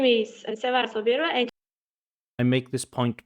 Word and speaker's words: Sevara: You can call me Sevara.